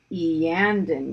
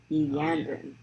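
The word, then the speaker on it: Iyanden: It's Eandon yellow. Eandon. Oh, yeah. The I is E.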